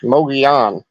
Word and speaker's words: Mogollon: Because there's two L's in there, and it's kind of Spanish, Mogollon. Well, yes. and that's it. It's got that Spanish sound.